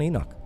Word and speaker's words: Enoch: his son's name rhymes with Menoch. So it'd be Enoch.